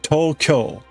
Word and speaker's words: Tokyo: The one of the things I will be sure to tell everyone is, right, it's Tokyo. Tokyo is the name of the city.